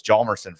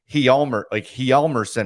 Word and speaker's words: Hjalmarsson: He said, we've all said Nicholas Hjalmarsson forever, but he said like Hjalmarsson or something. It was like Hjalmarsson. Hjalmarsson, and I'm sure he is saying it correctly.